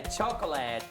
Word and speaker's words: chocolate: be bitter as well its name is usually pronounced with two syllables its name comes from